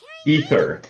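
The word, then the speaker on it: Aether: How do you pronounce this Traveler's name again? Is it Ether? It's Ether? Ether.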